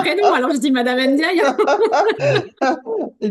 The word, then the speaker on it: Ndiaye: alors je dis Madame Ndiaye. Et d'ailleurs, le N se prononce pas, d'ailleurs, Ah Ah en oui. pardon, parenthèse. alors Ndiaye alors. Et les N se prononcent pas, en fait.